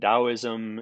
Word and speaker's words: Taoism: element is Taoism and Taoism is usually pronounced as if the first letter was a D but the first letter